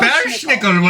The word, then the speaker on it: Belsnickel: Belschnickel will catch you.